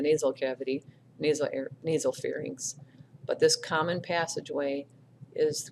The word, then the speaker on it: pharynx: and call it the far mix it's not that it's not NYX it's y mx it's inks like the Lynx cat right to cabinet the short tail so it's called the pharynx and the pharynx starts